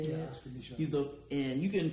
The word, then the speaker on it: Micheaux: Yeah, Oscar Michaud.